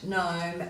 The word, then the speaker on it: gnome: And we're looking at the silent G in sign, design, assign, gnat, gnome, and gnarly. Now, if you have a look at that silent G, it's coming before an N, so you might like